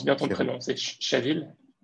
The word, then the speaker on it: Shathil: Est-ce que je prononce bien ton Khair. prénom? C'est Shavil? Shadl, exactement, exactement.